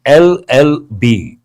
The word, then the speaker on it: LLB: How do you pronounce this? Though it is a consonental letter we pronounce LLB. E sound is there.